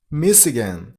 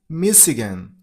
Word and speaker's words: Michigan: Michigan. Stress on a personal level. Me. Michigan. Michigan. It's not gun. It's g.